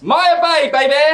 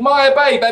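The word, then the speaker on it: Maya Bay: see the very famous Maya Bab I don't say this word anymore because I can't pronounce it no it's called Maya b b and it is famous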